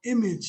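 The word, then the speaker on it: EMAGE: The facility is called Image Center. That's spelled E-M-A-G-E Center.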